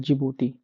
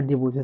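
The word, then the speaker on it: Djibouti: पहला है Eritrea, Eritrea, Ethiopia और एक फिर आता है सोमालिया उसके बाद चौथा आता है जिबूती। देख लीजिएगा जिबूती की स्पेलिंग डी से शुरू होती है।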